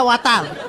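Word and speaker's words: water: এটা ওয়াটার। ওয়াটার? জি স্যার। জিহ্বার আগে সামনের দুই দাতের সাথে লাগবে।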